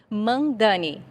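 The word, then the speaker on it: Mamdani: de Nova York, como é que é a pronúncia correta do nome dele mesmo? Por favor, Mandani.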